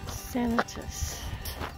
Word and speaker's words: Sanitas: in the Old Timers know the correct pronunciation is sanatus and you're gonna learn why those are doing